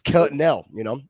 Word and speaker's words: Quesnel: I was trying to hit the Q, but no Q needed. It's Quesnel.